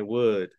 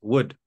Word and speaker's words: would: I would. Okay. I would. I'd es I would. Recuerden que la L de would no se pronuncia. Okay. No digan would. Es would.